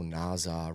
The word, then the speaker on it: Naza: I was like, oh, Naza rhymes with Wawa.